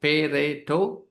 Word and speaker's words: Pareto: So Pareto chart, it is pronounced Pareto, okay?